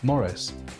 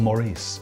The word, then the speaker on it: Maurice: Morris Maurice well obviously there's only one correct pronunciation and that is Morris or Maurice take your pick honestly well it's pencil